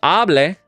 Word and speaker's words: hable: Whereas hable, with no accent mark, so the stress naturally falls on that front syllable with that A, is going to be the subjunctive usage.